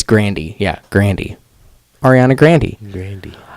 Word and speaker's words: Grande: I was today years old when I found out that it was Grandy right. instead of Grande. I think it's Grandy, not Grande. It's Grandy.